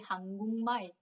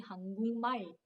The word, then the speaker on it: 한국말: But when you pronounce it together, you have to say 한국말.